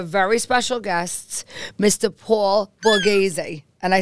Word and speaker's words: Borghese: I have a very special guest Mr Paul Boraz and I said it right right yes you